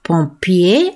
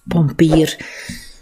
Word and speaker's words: pompier: De pompier, van het Frans, en in het Frans wordt pompier uitgesproken, maar dat is algemeen Vlaams, pompier.